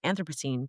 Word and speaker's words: Anthropocene: Because that me, what's happening to our climate, the Anthropocene, I just learned how to pronounce that, Anthropocene, is Real.